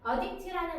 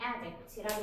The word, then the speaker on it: addict: 발음은 솔직히 조금 다르긴 해. 우리 중독자라고 얘기하면 addict라고 얘기를 하고 중독에 빠지게 하다 동사로 하면 addict 이렇게 발음을 한다만 일단은 이 아이가 품사가